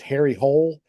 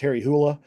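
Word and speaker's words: Harry Hole: it and it's it look you think it's pronounced Harry Hull but it's pronounced Harry hoola um but some of these you know like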